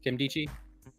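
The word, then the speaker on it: Nkemdiche: tackle robert i don't even know how to pronounce his name kim deichi yeah that's it yeah okay there you go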